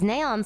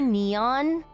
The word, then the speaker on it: Neon: In the English version, do you guys call her Neon instead of Neon? I figure her name is like actually Neon. But I've been saying Neon so long because of the Japanese pronunciation.